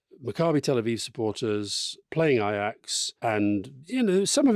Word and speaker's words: Ajax: have been well first of all R it's pronounced ax ax one of the most famous football names